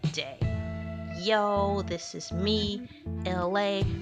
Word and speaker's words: Elay: Yo, this is me, Elay, pronounced like LA, like the city.